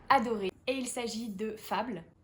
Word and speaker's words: Fable: Et il s'agit de Fable, ou Fable, ça dépend si tu le prononces à l'anglaise, qui est sorti chez Rajo au début du mois et qui a été écrit par Adrienne Young.